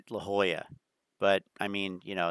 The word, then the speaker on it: La Jolla: and and and and I know how to pronounce this La Jala right I'm sure you get that all the time instead La Jolla but I mean you